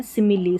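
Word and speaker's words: simile: देखिए यहां पर देखिए फिनाली रेसिपी और यहां है सिमिली। सभी में इ उच्चारण इस इ का उच्चारण हो रहा है।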